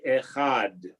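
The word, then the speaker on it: אחד: Adonai Echad, right? Very important when you're saying the Shema that you put make sure that you have a D at the end, right?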